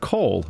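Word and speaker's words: kohl: eyes and so on it's also called cold but not spelled see Oh al it's spelled Koh L it's very poisonous do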